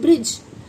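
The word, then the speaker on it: bridge: हां एक देखिए देखिए बी आर आई डी जी ई इसे हम ब्रिज नहीं पढ़ते हैं ना ब्रिज नहीं इसे हम क्या बोलते हैं? ब्रिज इसमें क्या है? जी साइलेंट है क्योंकि ये डी के बाद क्या आया?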